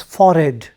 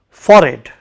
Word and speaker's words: forehead: to look at he has wrinkles on his forehead you know this part of the face f-o-r-e-h-e-a-t the pronunciation is not forehead but it is foreign for it all of you say it for it on the forehead and if you look at